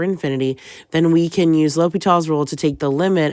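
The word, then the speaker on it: L'Hôpital: up with something called l'hopital's role by the way the S is silent there are some spellings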